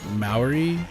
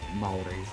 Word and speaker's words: Maui: So my is it called is it mauy? Is that what how you pronounce that? Uh Maui.